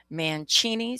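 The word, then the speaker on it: Mancini: Manchini sounds like Fetuccini.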